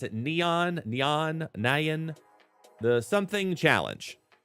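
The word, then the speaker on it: Nian: the I don't know the proper way to pronounce it neon neon Nyan the Something challenge n-i-a-n so Nyan we basically have to use four cards we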